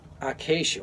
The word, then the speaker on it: acacia: I keep messing up that word, acacia wood.